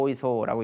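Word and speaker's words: 大磯: 그 오이소라는 곳인데 이걸 왜 말씀을 드리냐면 그 한자로 쓰면 대기라고 쓰거든요. 대기라고 쓰고 오이소라고 읽는데 이게 이제 일본의 이제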